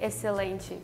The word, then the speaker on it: excelente: In Portuguese, we say excelente. Okay, repeat it again. Excelente. Excelente. Oh, we don't pronounce. We don't pronounce the X. It's just excelente. It's like an S.